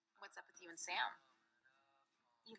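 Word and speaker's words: Sa5m: So I have a lot of notes for this movie, but just to keep it simple, Vanessa Hudgens plays Sam, spelled S-A-5-M, but the 5 is silent.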